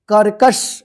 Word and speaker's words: कर्कश: और यहां पर श इसको पढ़ेंगे कर्कश इस क के ऊपर है आधा र यानी रिफ की मात्रा तो इसका उच्चारण जो है ना जो क है इसके बाद होगा आधारा ठीक है स त क